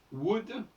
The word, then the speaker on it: would: Alors, le OU se prononce à la française, disons-le. Même dans you.